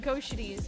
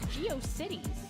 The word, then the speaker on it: GeoCities: But I did used to call it Go Shitties in my head, and I thought that's how you pronounce it.